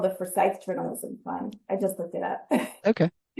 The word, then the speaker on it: Forsyth: This one's called the Forsyth Journalism Fund.